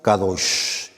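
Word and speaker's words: קדוש: La palabra santo en el hebreo es una palabra que se pronuncia kadosh que significa sagrado puro que no está contaminado con el pecado, algo que está separado de algo común.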